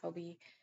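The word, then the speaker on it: Hobbii: from hobby hobby um I think it's technically supposed to be pronounced hobby but everybody says Hobie and it keeps me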